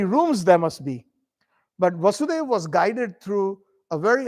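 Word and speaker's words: Vāsudeva: janak's daughter is janaki so vasudev's son is vasudeva so we have to be very careful sometimes when we pronounce especially when we know so um uh not vasudevaya so vasudeva means vasudeva and vasudeva means SRI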